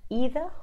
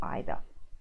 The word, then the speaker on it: either: th e are now there's two ways of saying this word either or either just either or or